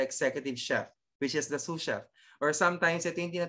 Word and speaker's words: sous chef: uh the susha okay sous chef you pronounce it sous chef is uh the person